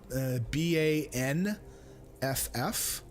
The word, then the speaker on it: Banff: much no dance dance it's funny Banff is spelled B ba n FF however even people that live up here call it Banff like with an M not sure why that